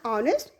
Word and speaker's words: honest: For example, an egg, an umbrella, an honest man. Here H is not pronounced.